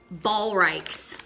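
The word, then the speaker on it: Ballreich's: So it's pronounced Ballreichs because I Googled it and I didn't know what was going on.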